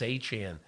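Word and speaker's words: Achane: him and he said yeah it's a chin but I I didn't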